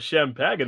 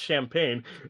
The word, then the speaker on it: champagne: I got a bottle of champaging right here. It's pronounced champagne.